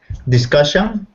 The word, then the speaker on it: discussion: Discussion? Good, because you said it with a oo instead of an ah. Discussion. That's it. Discussion.